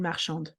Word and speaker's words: marchande: But then when we add the E, what does it do? It gives a vowel to the D. So now the D is no longer attached to the previous syllable, it's its own syllable. So it will be marchand. And now the D gets pronounced. And that's why when we add the E, we get to pronounce the D.